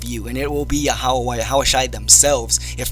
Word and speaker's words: Yahweh: In the Paleo Hebrew, pronounced exactly as I said, Yahweh and Yahawashi.